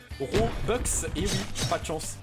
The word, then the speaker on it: Robux: robux excusez-moi et oui tous les youtubeurs vous montrent quand ils disent robux c'est une vieille prononciation à la française alors qu'en réalité ça se dit robux et oui pas de